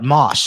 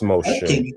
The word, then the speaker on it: Moshe: All right, Mosh, how's it going, Mosh? Are you over 18, and can you give me a good reason to believe in a God? Hey, how's it going? It's pronounced Moshe.